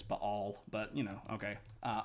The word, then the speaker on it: Baal: a Southern Baptist Church you might have heard pronounced baale Bale that's not accurate there's actually an apostrophe here and it's B all but you know okay